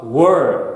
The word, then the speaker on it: work: なのでスペルが WOR の時は WORK という音になります。